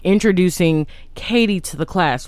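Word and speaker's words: Cady: the class right and he pronounces her name as caddy okay the spelling is c-a-d-y which is one of the major jokes in the film you know her name is katie like k-a-t-i-e but it's spelled caddy so everyone calls her catty instead of katie and so katie tries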